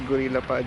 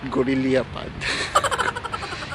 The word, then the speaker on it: Gorillapod: so by the way the correct pronunciation is Gorillapod not good in the iPod they say I find